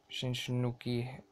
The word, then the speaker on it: Shinsuke: Shinsuke, that's how you say it, Nakamura, the big